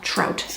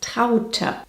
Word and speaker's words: Traute: You'd pronounce that trout, Americans, wouldn't you? Elk, wolf, trout. Hey, soon we can open our own mispronounced German names zoo. Similar to Elke, the correct way of saying this is Traute. Traute.